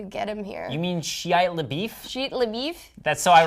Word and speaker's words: Shia LaBeouf: You mean Shia LaBeouf?